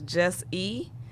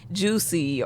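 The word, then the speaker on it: Jus'E: But I started out, my name was Just E, and it just wasn't working because I would spell it, of course, Jus apostrophe E in true hip hop fashion, but people would just say Juicy or just dumb stuff because Oh, they couldn't Juicy.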